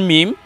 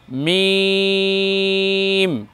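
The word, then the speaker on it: ميم: কিছু বর্ণ আছে যেমন মিম মিম কে শুকনা স্থানে লাগিয়ে উচ্চারণ করতে হয় দেখুন মিম মিম একেবারে বেশি যেন ঠোঁট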